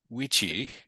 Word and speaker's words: vici: Classic Latin actually pronounced its V's as W's, our best guess is, which means that Caesar would have found it weenie, weedy, and witchy.